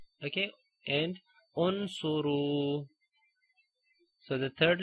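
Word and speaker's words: انصروا: If there is a dhamma, we read hamzatul wasl with a dhamma, like uqtulu, okay, and unsuru.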